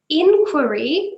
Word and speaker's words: inquiry: So inquiry, you put the stress at the start. Inquiry, inquiry.